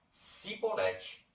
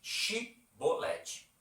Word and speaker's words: chibolete: "Um homem de Efraim pronuncia esse vocábulo de um modo especial, cibolete." A primeira sílaba pronuncia logo a diferença. Ao passo que os nossos amigos articulam claramente: Shibolete.